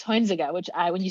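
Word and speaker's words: Huizinga: First, I'm grateful to you for teaching me how to pronounce Hoinziga, which when you said it, I'm like, who's that?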